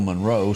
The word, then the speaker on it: Monroe: some call him Bill Monroe some call him Bill Monro depending upon what side of the tracks that you live on is to how you pronounce that it's kind of like